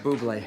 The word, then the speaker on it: Bublé: Ham and Bubbly, go together like a delicious pork-based dish and a glass of sparkling champagne. And look no further than Ham and Bubbly. It's actually pronounced Bublé.